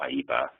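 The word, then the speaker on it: IEEPA: international emergency economic powers act which people call aipa this is how it's spelled and the trading with the enemy act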